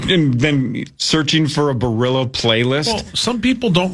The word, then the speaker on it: Barilla: You guys familiar with, is it Barilla pasta?